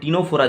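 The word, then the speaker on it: Ctenophora: यहाँ पर टिनोफोरा जो है, टिनोफोरा का भी क्या है, C का प्रोनाउंसिएशन जो है ये साइलेंट रहेगा, यहाँ पर प्रोनाउंस कहाँ से होगा, T से, राइट।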